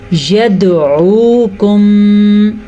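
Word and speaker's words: يدعوكم: يَدْعُوكُمْ دال پہ جھٹکا آپ کو فیل ہوا؟ اس جھٹکے کو کہتے ہیں قلقلہ. دال قاف طا با جیم یہ 5 حروف ہیں. جب ان پہ جزم آ جائے تو جھٹکا ضروری ہے, اسی کو قلقلہ کہتے ہیں.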